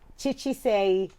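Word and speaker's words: Chichi Seii: to you is just go go watch it chi-chi say uh do you want to spell that for us c c-h-i c-h-i yes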